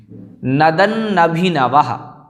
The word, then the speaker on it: नदन्नभिनभः: नदन्नभिनवः, नदन्नभिनवः, इस प्रकार से 2 नकार हैं, अतः नदन्नभिनवः, एक नकार हलंत है, एक पूर्ण है।